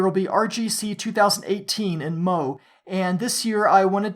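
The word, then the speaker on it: Meaux: to 28th rgc 2018 in MO that's spelled me Au X because it's French he says keep up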